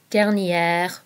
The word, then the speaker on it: dernière: Prochain and prochaine both mean next, so be careful here because there is a difference in the pronunciation. Prochain, prochaine. Dernier, dernière.